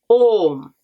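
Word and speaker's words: ஆம்: Yes in Tamil is Om.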